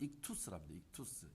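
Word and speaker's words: ΙΧΘΥΣ: 이게 이제 그리스 글자인데 발음은 익투스랍니다.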